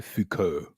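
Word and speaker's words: Foucault: u l t with pronounced the French way Fuko yeah that I want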